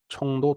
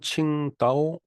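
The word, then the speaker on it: 青岛: 여러분들은 이번 행사를 통해서 청도 통제 실험 학교를 방문하여 어 그니까 중국 발음으로는 칭따오 통지 실험 학교라고 어 청도 통제 실험학교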